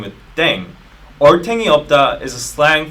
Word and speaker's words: 땡: The pronunciation of dang is similar to thang, which is the slang of thing in English.